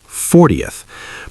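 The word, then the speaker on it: fortieth: The source tells us that for numbers like 14th, the stress is on the second syllable, 14th. But for 40th, the stress is on the first 40th.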